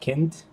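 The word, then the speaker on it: Kindt: Now, apparently written by Matt Kind, that's how you pronounce it, and David Rubin.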